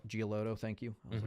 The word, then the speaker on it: Giolito: Lucas Giolito, I think is how you say it. He's with the Guardians. I'm probably mispronouncing. Giolito, thank you.